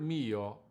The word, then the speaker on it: mio: and sixteenth note combination leaning on the I and connecting the O to the word "Caro"